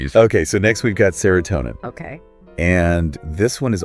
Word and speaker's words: serotonin: And they say that things like spending time with friends can really boost your serotonin levels.